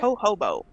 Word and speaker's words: jojoba: the whole the hoba jojoba is that how you say it ho hobo yeah you're right i don't care i make up my own no you were right the first time but okay i like